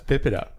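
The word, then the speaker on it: PIPEDA: we always do this right in French it's pip it up and then PIPA de has it's a federal act but it has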